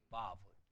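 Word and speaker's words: וָו: W가 아니라 V로 바꿔야 돼요. 그렇죠? 바브, 바브. V로 바꾸셔야 됩니다.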